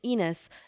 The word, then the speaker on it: Enos: okay what's your name it's enos it rhymes with penis so you can call